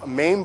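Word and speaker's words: mame: heavy so there's there's main bonsai which are pots you can basically hold in your hand that's spelled m-a-m-e main bonsai very small and they've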